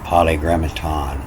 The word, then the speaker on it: polygrammaton: So this isn't this is poly, P-O-L-I-S, is P-O-L-Y. And, it's the same as my name. It's French, like Paris is pronounced Paris. And so after a consonant, the I-S is pronounced E. So it's poly, the polygrammaton.